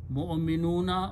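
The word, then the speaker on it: مُؤْمِنٌ: And waw is not pronounced, so it is pronounced mu'minun.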